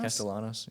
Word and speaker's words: Castellanos: Castellanos.